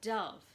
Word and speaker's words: dove: beautiful bird called a dove dove rhymes with love nobody wrote about hamsters